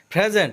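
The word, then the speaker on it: present: প্রেজেন্ট অর্থ বর্তমান, এখানে পি এর উচ্চারণ ফ হবে আর আরের উচ্চারণও হবে, কারণ আরের পরে ভায়োল আছে।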